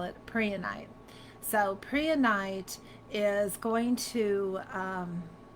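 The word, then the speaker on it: prehnite: How do you pronounce it? It's Preonite.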